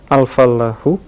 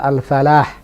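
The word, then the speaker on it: الفلاح: al-fallahu. Nah, Al-fallahu. al-fallahu juga begitu, ada tasdidnya. Jadi memang standar bacanya begitu. Tidak tepat kalau kita katakan al-falah. Karena al-falah dengan al-fallah punya makna yang berbeda.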